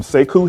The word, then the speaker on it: Sekou: Um but um I'm Seikku. My first name is spelled S E K O U.